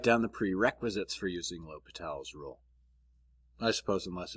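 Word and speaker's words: L'Hôpital: doesn't change the fact that French name uh we keep that little less silent lal's rule okay so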